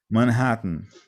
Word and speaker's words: Manhattan: Essa palavrinha Manhattan talvez dá um pouquinho de dor de cabeça, né? Manhattan. É só você parar aqui, ó. Manhã, tan. Ok? Você nunca vai errar. Coloca manhã, tan, com dois T's.